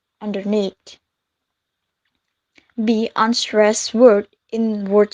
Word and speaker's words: underneath: misplaced in the video where underneath is pronounced as underneath when Oxford dictionary is pronoun as underneath be unstressed word in